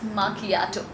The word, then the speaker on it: macchiato: some pronounce it as machiato but the correct pronunciation of this particular coffee is machiato now what does it